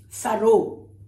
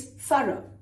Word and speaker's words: thorough: It's not thorough, as Americans would say it. It's thorough. Rhymes with borough, which is a geographical location inside a county in England.